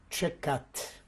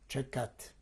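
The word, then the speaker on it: Tczekat: The name of the village was Čekat. Please spell. I'll try to spell it the best possible way. It would be T-C-Z-E-K-A-T, Čekat.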